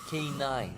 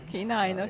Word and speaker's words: Canin: yes yes it it is pronounced like K9 K9 okay like K9 yeah